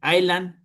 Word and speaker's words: island: Island, recuerden cuando dicen con isla, no pronuncian la S. Island caretaker.